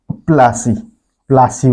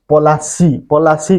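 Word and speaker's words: Plassey: रे कले battle of प्लासी waste Bengal रे गोटे जगहटे अच्छे तार ना होचे पलासी कहसन किंतु इंग्रेज मानकर प्रोनाउंस रे सेटा प्लासी हो जाइए है तो बैटल ऑफ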